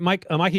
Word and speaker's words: Mikey: And I was just thinking in Mikey's case, and by the way, he spells it M-I-K-E, but he pronounces it Mikey, which I sort of like.